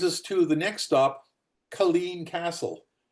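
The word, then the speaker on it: Culzean: So that brings us to the next stop, Colleen Castle. There's a Z in there. It's not pronounced.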